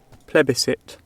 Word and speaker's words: plebiscite: Plebiscite. Plebiscite? Plebiscite. And today's word we will be looking at means to a vote, and that word is pronounced plebiscite.